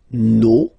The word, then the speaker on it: nos: Okay, and then for the plural, nos, vos, and then leur. Okay, so remember, even if you've got this final s, you don't pronounce it, as it was the